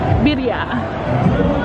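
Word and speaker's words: birria: have a birya taco birya is how you say it correctly but they have a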